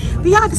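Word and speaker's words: Biadasz: standing here with Washington Commander Center Tyler Tyler pronounce your last name for me seriously Vates VI I've been saying it the whole time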